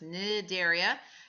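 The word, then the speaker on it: Cnidaria: are in philm nidaria starts with a C but the C is not pronounced so it's nidaria you also have a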